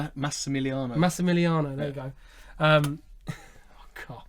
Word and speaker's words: Massimiliano: Massimiliano. Massimiliano, there you go.